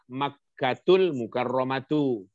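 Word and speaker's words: مكة المكرمة: Kalau bacanya Makkatu al-Mukarramatu artinya adalah Makkah yang dimuliakan. Yang memuliakannya Allah, para malaikatnya, para rasulnya, dan seluruh kaum mukminin, mukminat, muslimin, muslimat di muka bumi. Itu kalau dibaca Makkatul Mukarramatu.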